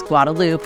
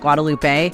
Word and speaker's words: Guadalupe: street here called Guadalupe yes it still has the e but in Texas we don't pronounce that be careful if you want to sound like you know what you're saying it's Guadalupe not Guadalupe another one is Menchaca